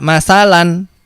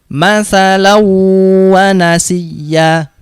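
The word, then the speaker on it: مثلا ونسي: Membacanya tidak masalan tapi dimasukkan ke huruf wawunya. Masalau wa nasiya.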